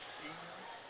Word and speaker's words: Eanes: Cooper Eanes rhymes with jeans. Yeah. Eanes?